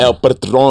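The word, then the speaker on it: El Patrón: El Patron.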